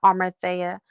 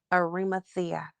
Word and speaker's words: Arimathea: That's why my last name is Arimathea, not Armathea, not, which most people mispronounce it for. The name is properly pronounced Arimathea.